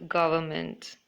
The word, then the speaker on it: government: example is the word government where a letter n is silent similarly we sometimes fail